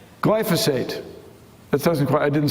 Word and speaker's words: glyphosate: Glyphosate. Glyphosate.